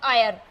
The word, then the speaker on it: Eyre: अब एक चीज आपको यहाँ ये भी याद रखनी है, एक तो है ईरी और एक है स्पेलिंग EYRE, आयर।